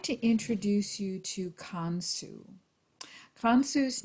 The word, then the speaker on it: Khonsu: today I would like to introduce you to con su from Sue's name is spelled KH o and su and in the Egyptian pantheon con su is the moon and so of course in